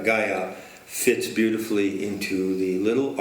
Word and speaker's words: Gaia: But of course, Sophia, which has the word fia in it, fear, whereas Sophia rhymes with desire. And Gaia. And Gaia. And we'll find that rhyme, Sophia, desire, Gaia, fits beautifully into the little argument that we're presenting today.